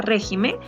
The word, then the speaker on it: régimen: Pero si yo pluralizo, lo vuelvo en plural, la palabra régimen, yo diré regímenes. Y ya no va a tener la sílaba tónica acá, sino está cambiando.